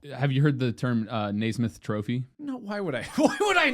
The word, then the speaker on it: Naismith: Their name is Namath. Naismith. Namath. Thou Namath. I want to know how to pronounce it because I always screwed this up. Yeah, you have a master's degree. It's Naismith. It's like Naismith.